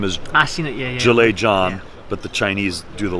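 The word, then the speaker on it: Zhang Zhilei: so his name is Jala John so the Z H is pronounced with a J yeah so but in China they say the last name first so John Jala is how it is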